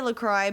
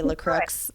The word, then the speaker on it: LaCroix: i don't know yeah i say lacroix but some people i think say la crooks and it doesn't sound right either it's like they're making